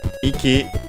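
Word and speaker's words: 息: Iki should be unaccented, I think, but it means breathe. Actually, it's accented on the first syllable, the thing we've checked.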